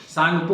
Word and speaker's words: Tsangpo: टी से start होता है, टी साइलेंट होता है, TSANGPO, सांगपो होता है।